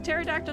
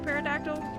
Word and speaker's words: pterodactyl: Is a pterodactyl, not a parodactyl in vice vers. These are things I must know. Who's texting? P is silent but parodactyl sounds so fun.